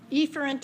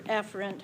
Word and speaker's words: efferent: a center ok so what's the opposite of afrin efferent or efferent however you want to pronounce it some people say a ferent and efferent just so they can remember how to spell them that's fine most of